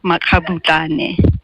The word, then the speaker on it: Makgabutlane: It's pronounced Makgabutlane. Makgabutlane.